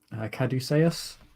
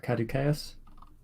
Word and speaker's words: Caduceus: I'm going to pronounce this wrong. Caduceus or Caduceus.